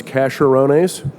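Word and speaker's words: Caserones: um royalties right here casserones which I pronounce casharones when we first bought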